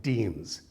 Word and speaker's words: deme: Let me say first that these villages are called demes, D-E-M-E. It's a little confusing because it sounds like the word demos for people, but deme.